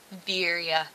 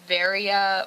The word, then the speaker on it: Viria: Viria, that's how you say it. Not Varia, or, I've heard so many weird stuff. Viria.